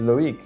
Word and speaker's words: Loïc: My name is Loig.